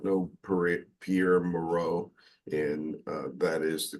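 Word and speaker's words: Pierre Mourad: speaking for those who do not know per Pierre Moro and uh that is the correct pronunciation of his name uh although he is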